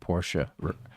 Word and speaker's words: Porsche: And that's why most people here now, put that E at the end, Porsche, rather than just Porsche.